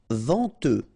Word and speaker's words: venteux: Venteux, final X not pronounced, then EN, en, venteux.